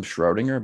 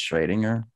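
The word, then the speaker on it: Schrödinger: it was schrading her everybody calls him schrodinger but i'm pretty sure you're really supposed to pronounce it's trading her in german because of the two little dots yeah that talked about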